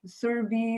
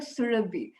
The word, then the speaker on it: Surabhi: me as sarabi and all my life people have been mispronouncing my name serbi surabhi survey but bhakti sawabi maharaj he looked at me and he said and i said that's not how you say my name and bhakti choi samurai said so tell me how do you say your name and and so so i said it it's like it's like surubi and he said oh